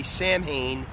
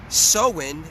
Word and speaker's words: Samhain: we are approaching some as people would say Samhain at least in in in in in Michael Myers Halloween but soin as it's actually pronounced or so Quinn so